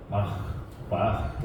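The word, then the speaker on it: ברך: 하나가 있는데 그게 히브리어로 바라크라 하는 단어예요 어려우시죠 좀 따라해 보실래요 바라크 바라크 예 조금이 히브리어 원어 대로 하면 바 바라크 이런 정도의 발음인데 바라크 성경에서 굉장히 많이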